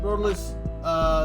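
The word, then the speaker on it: Rotalice2: Rotorless, the two is silent.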